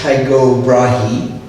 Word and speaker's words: Tycho Brahe: The Latinized form Tycho Brahe was adopted by him around the age of 15. The Danish word is Tycho Brahe, sometimes written Tycho with a double dot over